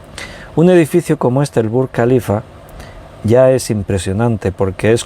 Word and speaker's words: Burj Khalifa: que se llama si no me equivoco la pronunciación burj khalifa se pronuncia así está en dubai y es